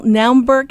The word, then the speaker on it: Naumburg: first German artist to ever win the International Naumburg, is that how it's pronounced?